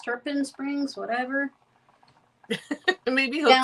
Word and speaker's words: Tarpon Springs: He was born in Turpin Turpin Springs. Tarpon Springs. Turpin Springs.